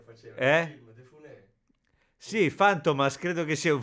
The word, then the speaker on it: Funès: Funès, che tra l'altro non si dice Louis de Funès, come dicevamo noi, ma de Funès, ho sentito che si dice.